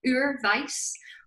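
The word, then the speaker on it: Oorvyce: the link below because it's called ur vice which um isn't very easy to spell it's like o-o-r-v-y-c-e it's felt differently as to how it sounds um because some people think vice like v-i-c-e so i'll put a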